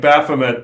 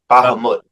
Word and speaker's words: Bahamut: So I kept saying Baffomet to them. They're like no no no BT they were correct. It's It's spelled B A H M U T. Bahammud.